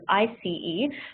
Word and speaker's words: ICE: we don't pronounce it as o train actually pronounce it as IC e particularly because the IC e stands for intercity